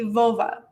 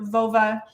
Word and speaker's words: völva: the main term now i'm pronouncing it right now vova because this is youtube and i don't want to get flagged but the actual pronunciation sounds a bit more like a female body part if you get catch